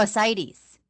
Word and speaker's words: ascites: with, you're going to have to help me pronounce this, ascites? Oh, ascites.